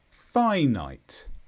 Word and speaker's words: finite: is an adjective and the stress is on Phi finite this just means Limited